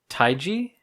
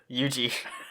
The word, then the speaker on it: Yuji: Taiji? No. Taijo? No. Taiju? No. What is it? Yuji. I knew it was 2 syllables.